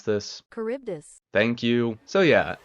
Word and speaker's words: Charybdis: Google, can you help me pronounce this? Charybdis.